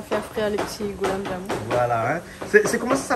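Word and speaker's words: gulab jamun: Alors, on va bien prononcer, donc, pour que monsieur Jean-Claude comprenne bien. Donc, voilà. On va lire goulab jamoun.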